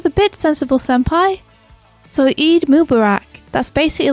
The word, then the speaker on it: Eid Mubarak: what is it what is it i'm unaware eid mubarak thank you kimchi for jaffa good morning griffin